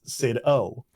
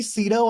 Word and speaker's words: CidO: But I have it as Sid O. And so I was like, maybe with Sid O people will pronounce it a little bit.